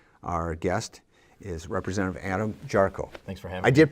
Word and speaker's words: Jarchow: Wisconsin journal today our guest is representative Adam charcoal thanks for having I did pronounce that correct you got it okay you